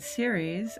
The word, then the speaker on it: Ceres: also we have the asteroid series at this party ceres is spelled c-e-r-e-s is about our capacity